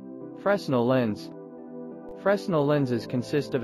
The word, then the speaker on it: Fresnel: and illumination systems and image formulation a fresnel pronounced fresnel lens replaces the curved surface of a conventional